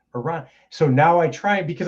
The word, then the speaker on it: Iran: And my wife pointed out to me because we were talking about Iran, and I was like, Iran.